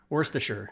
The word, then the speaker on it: Worcestershire: Worcestershire sauce. Yeah. So I can teach you that, Robin. So you can say the word worse, like it's worse than this, right?